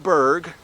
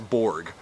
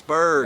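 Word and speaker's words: Bourg: Come over to my channel, Berg. That's B-O-U-R-G. Pronounced like iceberg, spelled differently. There you go. Because everyone says Borg. And I'm like, no, it's Berg.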